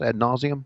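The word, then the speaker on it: ad nauseam: Ad nauseum?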